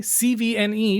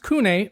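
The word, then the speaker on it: CVNE: CV ne, but it's pronounced Kune Monopole.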